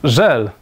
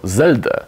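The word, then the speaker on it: Zelda: co za żelada kwiat popełnił popularny błąd w wymowie tej gry wydawało mu się że chodzi o żel chodzi o żel o zeldę o zeldę która nic ci nie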